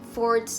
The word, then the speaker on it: fort: and sport kayak Hai Fort bikin rumah-rumahan di sekolah atau misalnya di rumah pakai selimut itu namanya Fort nah ini bacanya for PC free itu kayak